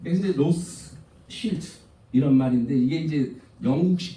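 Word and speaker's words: Rothschild: 로스 실트라는 뜻이에요. 실트. 붉은색 간판이라는 뜻이에요. 왜 그러냐면은 로스차일드 집안은 유대인이에요.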